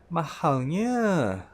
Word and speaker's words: Mahalnya: (This is expensive) "Ma-Hal-Nya" (listen to how I say it) remember to say the L sound at the back "Nya" try to pull the "Nya" sound longer a bit to express your dissatisfaction on the price "Mahalnya" If you want